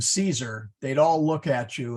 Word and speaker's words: Caesar: say that again please there are no C's in Latin that are pronounced like an s o for example Caesar we say that in English Okay c-e-a-s-e-r that's if you